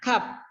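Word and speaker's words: كاف: Ketika dikasih harokat, kalau orang mungkin yang tidak tahu atau belum mempelajarinya maka dibacanya sama. Ka. Padahal dalam bahasa Arab itu beda. Ko sama ka.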